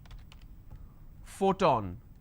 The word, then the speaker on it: photon: for example print now the letter P signifies per sound but not always for example if I have the word which is Photon now here the letter